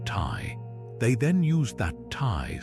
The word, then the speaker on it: ti: They took the sign for a tangible thing, like an arrow, which in the Sumerian language was pronounced Tai.